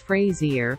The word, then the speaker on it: Fraser: the Jungle corrected him it's Frazier like that thing you shave with Fraser replied say phrase